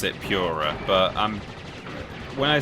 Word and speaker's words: Pura: Ghost Ship always pronounced it like Purra. Yeah. I pronounce it like the cat one. Yeah. I think maybe most people don't pronounce it Pura, but when I say people do, what I mean is Ben does.